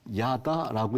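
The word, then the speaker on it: ידע: 자, 이걸 어떻게 읽냐면요. 야다라고 읽어요.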